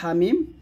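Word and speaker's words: حم: এখানে দেখুন হামিম, হা এক আলিফ টান হবে আর মিম এখানে 4 আলিফ টান দিতে হবে।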